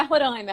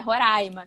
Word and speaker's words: Roraima: Não é Roraima, é Roraima, tá? Você tá falando errado e tal. O pessoal lá do Sudeste fala errado e tal. Então é Roraima, né, que se pronuncia.